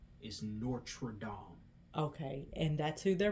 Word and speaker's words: Notre Dame: And Well, the correct pronunciation is Notre Dame.